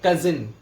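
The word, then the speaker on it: cousin: जैसे कि जो कजिन होता है, पहले तो उसका प्रोनाउंसिएशन मैं सही से बता देता हूँ आपको। इसको बोलेंगे कजिन, कजिन। बहुत से लोग कजन बोल देते हैं, इसको बोलना है कजिन।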